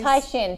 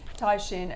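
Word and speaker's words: Caixin: is it the Caxin? Chinese? Taishin. It's a hard one to say, but yeah, after 8 years in Asia, I finally learned how to say it. Okay. Taishin, and their PMIs were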